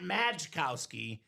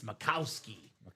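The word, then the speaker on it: Majkowski: It's not Mikowski, it's Macowski. proper pronunciation JSA certified for Dan.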